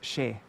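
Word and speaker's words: সে: Yeah, and in Bengali, even though it's written se, it's pronounced she.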